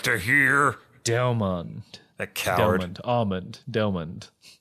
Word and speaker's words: Delmon: The O-N-D part of Delmon is pronounced like almond. LOL. Delmond.